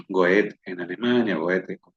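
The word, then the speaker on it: Goethe: Gustavo Adolfo Becker en España, e Goet en Alemania, Goet se pronuncie, Lord Byron en Inglaterra y Víctor Hugo en Seguimos.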